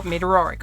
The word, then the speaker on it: Meteoric: Meteoric, I believe, if I'm not pronouncing that right, please let me know. Meteoric. Oh, Meteoric.